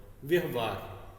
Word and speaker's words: व्यवहार: व्यवहार, व का उच्चारण कम है तो कम ज्यादा का ही भेद होता है।